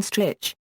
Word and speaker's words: Stritch: him because of having a name that rhymes with Wich snitch btch elain strich to which